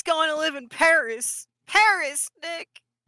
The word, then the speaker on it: Paris: Paris Nick. I believe it's pronounced Perry.